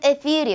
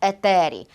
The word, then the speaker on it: етері: року наприклад Звісно що наші предки грецьку тету вимовляли як т і я зараз не в ефірі панове Я в етері Звісно що наші предки